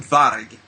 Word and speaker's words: Varg: And Varg, you can actually, in older English, you can find that word and pronounce it Varg.